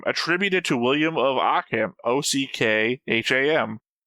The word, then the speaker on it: Ockham: to William of Ockham, OCKHAM. Like the third sentence. Yeah. Okay, this one does have a pronunciation. Not that I've ever been able to read these. Ockham. OK-EM. Occam. Occam's razor.